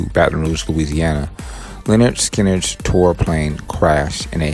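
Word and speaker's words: Lynyrd Skynyrd: major hit with their hard driving debut album pronounced leonard skinner in 1973 which featured one of the most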